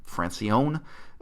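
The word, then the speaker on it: Francione: a Gary Franchione a who pronounces his own name francy own Gary there it's on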